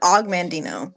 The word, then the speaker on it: Og Mandino: Um, he pronounces it Og Mandino, and he does say like that his name is kind of weird.